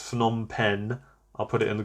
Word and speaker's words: Phnom Penh: I can never pronounce this one, but I think it's Phnom Penh.